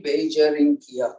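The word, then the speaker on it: Beijerinckia: Beigernikia, they also pronounce it as, but it is actually Beijerinkia, correct.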